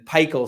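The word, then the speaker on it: PiHKAL: to to pikel um by Alexander Shogun and pikel stands for phenylethylenes I have known and loved um pikel p-i-k-h-a-l it's spelled all capital P little I all capital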